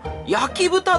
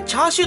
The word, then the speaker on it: 焼き豚: ねーチャーシューですねこの焼き豚と書いてチャーシューとは読まないですからねねしかも